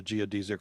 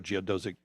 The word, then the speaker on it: geodesic: a strong proponent of the geodzik or geodesic depending how you say it dome very strong